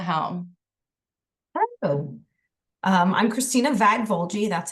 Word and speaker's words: Vagvolgyi: Christina take the home hello um I'm Christina vag vuli that's how you pronounce my weird last name um I am